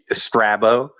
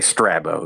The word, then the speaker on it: Strabo: and I say Strabo. You could say Strabo, but I say Strabo. Yeah. Honestly, yeah, I'm probably wrong. Honestly. I think Strabo is the Greek pronunciation, but Strabo is the American pronunciation.